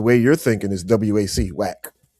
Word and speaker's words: WAC: That's why it's spelled like that because it's the conference. That's not how you spell whack. Like, oh, that's that's what it was pronounced. It was pronounced whack.